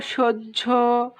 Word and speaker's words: সহ্য: ঠিক আছে, পরের রুলস খেয়াল করি, দেখো হয়ের সাথে যদি জ থাকে, অন্তস্থ জ মানে কি, হয়ের সাথে জ ফলা থাকে, তাহলে তার উচ্চারণটা হয় জ ঝয়ের মতো, জ এবং ঝ দুটোই থাকে এর মধ্যে।